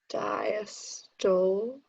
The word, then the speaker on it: diastole: Diastole of the ventricles, the relaxation. Yeah, good for you. Excellent. Good job. It's diastole. That's how you Okay. pronounce that.